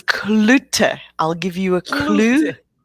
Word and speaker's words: Cloete: we talk almost every day and i still mispronounce her last name it's clutter i'll give you a clue okay yeah i'm